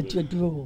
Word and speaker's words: Ja-drool: A Ja-drool.